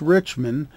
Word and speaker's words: Richman: today to have bruce richman on as our guest or i believe it's pronounced rich man and he's a cpa